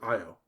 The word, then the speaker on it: Io: the dragon off father's eye oh and it's spelled io and he is the god